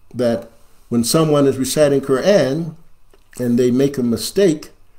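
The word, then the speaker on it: قرآن: Allah, Subhanahu wa ta'ala, by pronouncing the name of the book correctly, Qur'an. Qur'an. There shouldn't be any dispute about that. If you say Qur'an, you put an ayin there.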